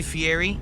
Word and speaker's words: Fieri: Guy Fieri or Fiieti as he pronounces his name.